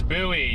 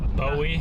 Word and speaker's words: buoy: It's buoy. Yes, it's buoy. You guys say buoy. It's buoy. Buoy. Buoy, not not Bowie.